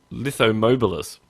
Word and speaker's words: Lithomobilus: We're here to talk about this thing called, and I'm going to pronounce this wrong too, that I want to say Lithomobilus. And you said it exactly right.